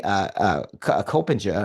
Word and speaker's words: Coppinger: And for me, you finishing in 10th in that particular race, behind Courtney Coppinger. I probably pronounced that name wrong too. Yeah, Coppinger. Yeah, you got it.